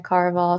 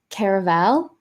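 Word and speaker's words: Caraval: is so good that's book three in the car of all series although I did hear her say on her Instagram recently she pronounced it like Caravel which I Stephanie Garber I'd never heard anyone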